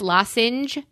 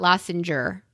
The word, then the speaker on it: lozenge: Hey, let you know, I'm pretty sure the word is lozenge and not lozenger.